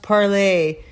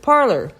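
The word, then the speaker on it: Parler: supposed to be pronounced parlay the people who made it pronounce it parlor yeah and that's how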